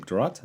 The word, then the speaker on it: Duarte: Duarte?